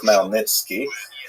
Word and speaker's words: Khmelnytsky: making it look something like Khmelnytsky. It's actually pronounced Khmelnytsky with a guttural at the beginning.